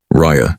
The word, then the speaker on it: Rya: "Rya," she said. She pronounced it like two short notes. Ria, that's pretty," he said.